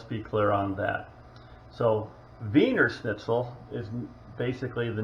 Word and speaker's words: Wienerschnitzel: it's wiener schnitzel uh the austrians pronounce their w's with a v it's not wiener schnitzel and weiner schnitzel is not a hot dog so let's be clear on that so vener schnitzel is basically the name